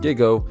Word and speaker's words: Gigo: My name is Gigo, put it together and it's pronounced Gigo, and today we're going to be talking about the value of followers.